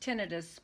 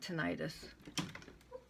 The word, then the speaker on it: tinnitus: So if anyone has, it's pronounced tinnitus, but it's actually, I call it tinnitus.